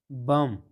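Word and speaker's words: bomb: کم، کم چې ده نو دا د ام توري څخه وروسته ده نو نه تلفظ کیږي. کم معنا ږمنځ. بم، بم چې ده نو دلته د ام توري نه وروسته بي راغلې ده نو دا بي نه تلفظ کیږي.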